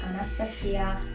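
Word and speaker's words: Anastasija: migliori amiche Una certa Anastasia o come si dovrebbe pronunciare Anastasia trova o trova si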